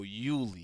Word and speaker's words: Iuli: So, the I is silent. So, Uli. Uli.